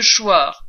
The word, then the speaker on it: Choir: Du marquis de Carnavant, un nom qui rime avec carnaval, au pitoyable marquis de Choir, un nom qui se prononce comme le verbe choir, l'aristocratie dans les Rougon-Macquart égrène inlassablement les symptômes de sa déchéance.